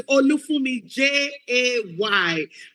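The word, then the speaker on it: Olufunmi Jay: Say Olufumi Jay.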